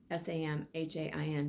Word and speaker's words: Samhain: go to the next sabbat which is called samhain um salmon is spelt like samhain s-a-m-h-a-i-n but it's pronounced samhain and that is also known as